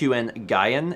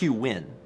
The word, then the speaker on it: Nguyen: Mouse people are not happy with how you pronounce that name yeah I realized I said HQ n gyein and then I realized it's it's ng u